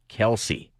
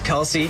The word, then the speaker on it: Kelce: have a podcast, and their last name's not Kelce.